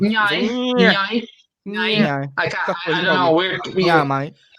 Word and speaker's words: Nya: it was meant to be pronounced like a car going by. That was the sound. Nyai.